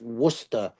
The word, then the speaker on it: Worcester: Yeah, and it looks like Worcester, but they always tell us it's pronounced Worcester.